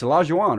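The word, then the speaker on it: Olajuwon: say allows you want is it Ola g'wan its allows you on write yo Keem allows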